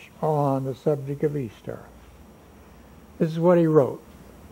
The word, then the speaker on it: Ishtar: I-S-H-T-A-R, which is pronounced Easter, was the day that commemorated the resurrection of one of their gods that they called Tammuz.